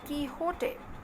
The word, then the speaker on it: Quixote: first part of don quixote it is the pronunciation of this word kihote in 1605 and it was an instant success